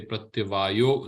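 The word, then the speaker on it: प्रत्यवायः: Here also pratyavayah becomes, when you pronounce it, you just say pratyavayo na vidyate.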